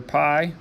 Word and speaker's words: pi: Okay, this is the Greek letter pi. It's spelled like the food without an E.